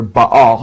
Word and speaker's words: Baal: then uh baal or he says bell b-e-l or ba all he spells it b-a-a-l how the bible spells baal or baal it's pronounced in hebrew uh which is the